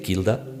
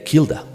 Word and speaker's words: Kilda: principio de las palabras no pronunciaban esa H aspirada, que podría ser Hilda, sino que la pronunciaban como una K.